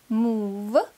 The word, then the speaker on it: move: Слова «мув» – двигаться и «прув» – доказывать. Здесь буква «оу» читается как долгий У. Move.